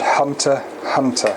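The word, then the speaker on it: Hunter × Hunter: I just finished watching the the anime called hunter hunter and spelled hunter x hunter but the ax is silent for some reason it I finished the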